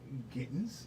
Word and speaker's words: Gittens: scoop or candidate for for district 5 when kittens rhymes with kittens and of course you want to